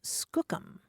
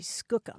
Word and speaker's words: skookum: using an unfamiliar word and that word was Skookum oh nice s k o o k u